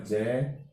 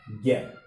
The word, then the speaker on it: ज्ञ: पूरा यह है ना, इसका उच्चारण होता है जय। पुराने समय से इसका उच्चारण चला आ रहा है जय, लेकिन वर्तमान में संशोधित रूप है इसका ज्ञ, ज्ञ बोलते हैं इसको, ज्ञानी।